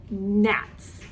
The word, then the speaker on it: gnats: For the letter G, they said he sent gnats. Gnats. They chose a silent G for the letter G for this book.